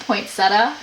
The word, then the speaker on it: poinsettia: Melina says it's pronounced poinsettia. Thank you. What's the point of the other E? Like, the other I if no one's gonna say it?